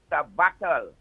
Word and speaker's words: sabbatical: I'm telling you that you pronounce the word as sabbatical and not sabbatical. Please correct that.